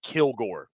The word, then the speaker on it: Kilgore: watch him play again the guy's last name is Kilgore emphasis on the first half of that name dude plays with a